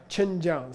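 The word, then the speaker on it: ཆོས་མཇལ: So it comes out sounding as if there were an N suffix letter on the first syllable, like Ganden Monastery, but there's not. That's the effect of a prenasal second syllable. It's really ch, njiao. And when you say them fast together, it comes out chenjiao.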